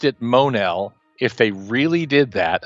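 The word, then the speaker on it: Mon-El: to pronounce this and the editor responds we pronounce it Monell as a Mon when it when our writers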